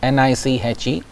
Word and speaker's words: niche: Now let us explore the next one, which is, we call it as niche tourism, N-I-C-H-E, it is pronounced as niche.